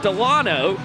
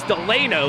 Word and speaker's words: Delano: a professional Party Animal, everyone knew him as Garrett Delano. Then we just found out about a week ago that the correct pronunciation of his name is Delano, as Jones destroys that one.